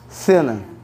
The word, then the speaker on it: cena: Cena, com a língua entre os dentes, por favor. Cena.